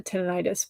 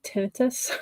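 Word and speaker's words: tinnitus: Do you have uh a history of we always call it uh tenonitis, but it's actually tenitus like the way it's spelled.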